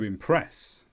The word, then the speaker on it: impress: I will dress to impress. Notice the stress is at the end of impress here. It's the second syllable.